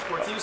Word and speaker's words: Portillo: With Justin, Portillo? I've always wondered, is it Portillo or Portillo? Yeah, I prefer Portillo. Portillo's how it's supposed to be pronounced.